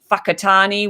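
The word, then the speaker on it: Whakatane: words for instance um when when the two letters w h are together that's actually pronounced fur so um for instance there's a town in new zealand called whakatani which is um which is spelt w-h-a-k-a-t-a-n-e uh so just knowing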